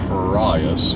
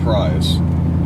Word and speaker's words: Prius: I call it the prias is because Jeremy Clarkson on Top Gear calls it the PRI that is the British pronunciation of the word and I am the